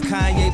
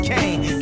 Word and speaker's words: Kanye: Now all I need is y'all to pronounce my name is Kanye, but some of my plastics still say Kane.